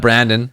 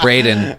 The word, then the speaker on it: Braden: It's not Brandon. It's pronounced Braden. It's No. pronounced It's Craig. Braden. It's like a disproportionate amount of our listeners have believe that it's pronounced Brendan or Brandon.